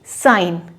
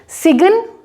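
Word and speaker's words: sign: यहाँ पे जी की कोई प्रोनाउंसिएशन नहीं इस्तेमाल होगी। आप यहाँ पे इसको आई को थोड़ा सा लंबा प्रोनाउंस करके इसको बोलेंगे साइन। ठीक है, सिगन नहीं बोला जाएगा, ये बोला जाएगा साइन।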